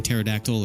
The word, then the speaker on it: pterodactyl: of my name like in pterodactyl or Pteranodon like a silent P yes or you can